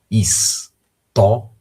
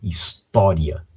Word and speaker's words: história: História, ok? Então nós temos aí a sílaba tó, a sílaba tônica tó, e esta palavra terminando com um ditongo, ria.